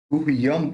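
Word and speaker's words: गुह्यं: अगाह्यो गहनं गुह्यन, देखिए गहनं गुह्यम, इसका म होगा, इसका न होगा, है ना। यहाँ पे क्यों म होगा, क्योंकि यहाँ पे प है तो इसकी वजह से वो ये जो बिंदी है उस बिंदी का म प्रोनाउंस होगा।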